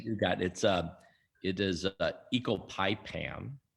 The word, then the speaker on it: ecopipam: Doctor, you recently joined Peter Reese's on Some Stutter Talk to discuss ecopinment. I apologize for not pronouncing this right.